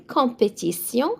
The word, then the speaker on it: compétition: une compétition. So T-I-O-N in French, always it's a sion sound. It means a competition. Gagner, perdre, une compétition.